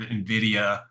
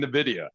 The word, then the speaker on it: Nvidia: you guys at least they say it right for most my career it's been Nidia they they had no idea how to say it so it took me